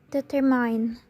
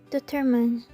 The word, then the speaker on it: determine: Many Indonesian pronounce it as determine, since the pronunciation is considered only the compound of deter and mine, while in fact, determine is completely a different word. The word determine should be pronounced as determine.